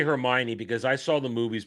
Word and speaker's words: Hermione: Oh, I knew how to say Hermione because I saw the movies before I read the books.